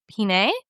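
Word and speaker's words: Pinet: And so, really, you can't go wrong with any wine labeled Peakpool de Pine. And Pine is P I N E T. We don't say the T at the end, of course, French.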